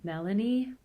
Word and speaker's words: Melanie: Once again, the first name has stress on the first syllable, but the high comes at the end. Melanie.